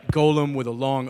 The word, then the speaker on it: Golem: how I learned that it's Golem and not Lord of the Rings Gollum right Golem with a long o